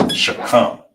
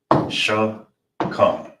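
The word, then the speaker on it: שכם: So the word is shoulder and how you pronounce it is shakam. Sha. Here's the breakdown. You got the sha right here. See them connector. So it's by itself. Then you got the c and the m. And in this one they are connected. So you'll pronounce that as come. So all together will be sha come.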